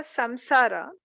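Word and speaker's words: saṃsāra: So for samsara, it's a ma because it's in because the anuswara is there.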